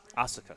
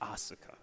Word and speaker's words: Asuka: So The Philly's finest Asuka. Sorry, let me say it right. Asuka.